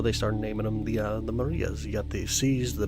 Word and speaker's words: maria: Or Marias, if you want to say it, or pronounce it correctly, Marias.